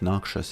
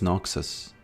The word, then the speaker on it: Noxus: He's from Noxious and I remember a long time ago I said the hand of Noxious and people thought that I'm a fool for pronouncing it that way. Uh and they said it's Noxus.